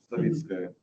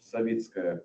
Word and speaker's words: Savitskaya: This lady, I will not try to pronounce that name. Savitskaya. Say it again? Savitskaya. Savitskaya, I appreciate that.